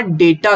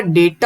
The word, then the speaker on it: डेटा: वो आता है आपका डेटा ग्रुप, कौन सा ग्रुप, डेटा। ये आपका डेटा होता है ना कि डाटा, ध्यान सही उच्चारण करना इसका, क्या है, डेटा।